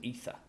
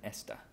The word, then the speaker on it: ether: have to learn but that's an ether not an Esther an ether so once again an